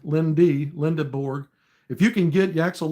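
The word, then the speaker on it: Lendeborg: And you hope, maybe if you could get Lindenborg and Lindenborg, however you pronounce that, Linda, not N, Lindeborg.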